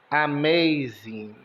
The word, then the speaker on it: amazing: o m de m o a tem o som de e z de z e de i n de n Amazing então sua casa cheira